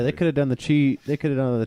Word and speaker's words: Qi: I hate that it is pronounced chi, but it's spelled QI.